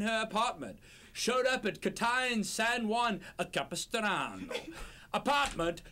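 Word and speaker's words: Kitaen: Is that how do you pronounce that? Katine?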